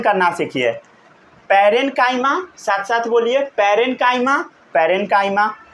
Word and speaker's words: parenchyma: पढ़ना पहले सीखिए, प्रोनाउंसिएशन करना सीखिए। पैरेन्काइमा, साथ साथ बोलिए पैरेन्काइमा, पैरेन्काइमा, फिर बोलिए कोलेनकाइमा, कोलेनकाइमा, फिर बोलिए स्क्लेरेनकाइमा, स्क्लेरेनकाइमा, स्क्लेरेनकाइमा, समझ गए।